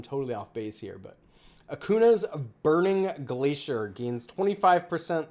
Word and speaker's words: Acuna: no any here so that's why I'm saying Akuna feel free to correct me in the comments if I'm totally off base here but Akuna is burning Glacier gains 25% life steal when